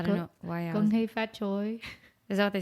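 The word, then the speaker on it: 恭喜發財: I think that's how you say Happy New Year in Chinese. I might be wrong or saying it with a very American accent, but Gong hei fat choi.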